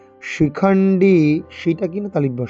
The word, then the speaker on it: শিখণ্ডী: কাশ্যশ্চ পরমেশ্বাসঃ শিখণ্ডী, এই ডিতে টান, ইকারে টান দীর্ঘ, শিখণ্ডী সেটা কিনা তালিব্য স, শিখণ্ডী ড নয় ডয়, এটা মূর্ধবর্ণ তাই এরকম করে জিভটাকে উল্টো করে উচ্চারণ করতে হবে।